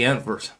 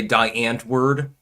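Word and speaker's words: Die Antwoord: King of Biltong, yeah, like the Antvert. It's funny because they were complaining because a lot of Americans say die Antword, and that's not the way that it's pronounced.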